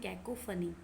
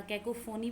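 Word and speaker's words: cacophony: तो वो साउंड जो हमारे कानों को अच्छी नहीं लगती उसको हम बोलते हैं कैकोफनी या कैकोफोनी बोलते हैं कई लोग। ये फ़ोन से बना है, कैकोफनी है एग्जैक्ट प्रोनाउंसिएशन।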